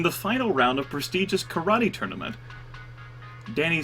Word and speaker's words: karate: the whole point of karate to kick each other actually it's pronounced karate and there's a lot